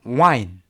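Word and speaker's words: whine: 자, 29번은 이건 발음이 어떻게 되냐면요, wine. 와인입니다. 화인이 아니라 와인이에요. 와인.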